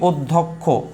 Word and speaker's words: অধ্যক্ষ: আর যদি পরে থাকে দ্বিতীয় বর্ণে, তৃতীয় বর্ণে, শেষ বর্ণে, মধ্য বর্ণে, তখন এটা উচ্চারণটা হবে হচ্ছে ক এবং হচ্ছে খ। কি বলেছি? ক এবং খ একসাথে।